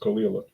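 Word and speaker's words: Caol Ila: It I'm been told is pronounced Kila.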